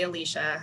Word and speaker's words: Alyssa: um i i know my name is spelled alyssa you actually say alicia i'll never get um